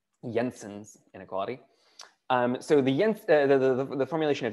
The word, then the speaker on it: Jensen: which is Jensen's inequality, that is pronounced with a y, Jensen's inequality.